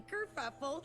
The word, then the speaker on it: Kerfuffle: I'm Kerfuffle, spelled like it sounds with a double for the fuff.